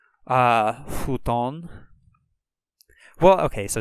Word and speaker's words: futon: it to be pronounced it's not really like a hard F it's a kind of an H sound futon futon romaji G the G